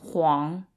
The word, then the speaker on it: 凰: we're drawing phoenixes Fung Huang fun so the U in the middle is kind of like a w sound Huang so fun Huang